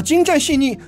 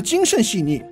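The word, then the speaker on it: 精湛细腻: 商宽衣，把精湛细腻读成了精慎细腻，共同绘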